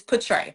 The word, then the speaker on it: Petrae: My name is Petrae. Petrae. And people would say Petra Petra and it bothered me so bad. It is portray.